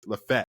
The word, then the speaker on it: Lafayette: Like Lafayette is or Lafayette or whatever, however you want to say it, because now they've gotten me messed up. Right. Is Lafette. Like that's how we say it. Lafette.